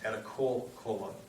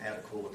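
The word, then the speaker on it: Attakullakulla: Cherokee at the time his name was actually pronounced at a colon what he called what we call them adekola for for whatever reasons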